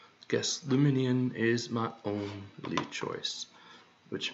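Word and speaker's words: Lumineon: It's 4 syllables.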